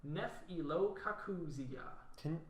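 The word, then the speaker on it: Nephelococcygia: It does, but I looked at the pronunciation. Oh, I see. Okay, Yeah, Neph-elo-kakuzia. because it's like super Latin.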